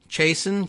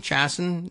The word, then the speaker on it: Chason: we have Rachel Chason chasin Chason it's a it's like Jason with a CH and look at that